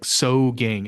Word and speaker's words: Sogang: It's It's kind of spelled like Sogang, s o g a n g.